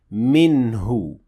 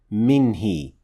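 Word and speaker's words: مِنْهُ: pronoun after it, since here we say minhu, not minhi. So the pronoun here in this case is pronounced with dhamma and not with kasra.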